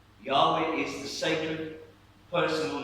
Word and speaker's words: Yahweh: 4 consonants, Yahweh. And what Hebrew scholars have told us is that the correct pronunciation of Yahweh imitates and replicates breathing.